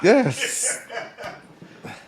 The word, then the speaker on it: Ye: Yes. He a Gemini too. Shit. Yeah. Wait, you said his name wrong. His Yay. name is Ye.